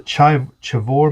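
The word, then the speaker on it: Chivor: the uh Colombian mine, the chavore mine I believe is how you say it.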